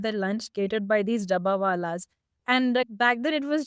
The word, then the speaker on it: dabbawala: In one of them, you look at Mumbai's the Dabbawala. Am I pronouncing that correctly?